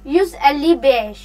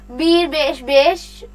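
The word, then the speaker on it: yüz elli beş: आगे यहाँ पे हम लोग जब नंबर्स प्रोनाउंस करने होते हैं तो कैसे करते हैं। यूज 100 एली बेश 55, 155 यूज एली बेश, ऐसे बोलना है। ये नहीं बोलना बीर बेश बेश, ऐसे नहीं बोलना।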